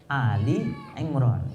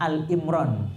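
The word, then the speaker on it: آل عمران: nama keluarga adalah Imran Ali Imran jadi orang sering palah sering salah paham bacanya nya Al Imran salah Nggih ini kayak di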